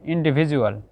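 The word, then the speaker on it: individual: ইন্ডিভিজুয়াল, ইন্ডিভিজুয়াল, এই যে এখানে ডির পরে ইউ আছে, লক্ষ্য করছেন, ইন্ডিভিজুয়াল।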